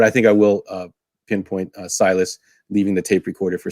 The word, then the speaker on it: Silas: Stylus, yes, but it's Silas.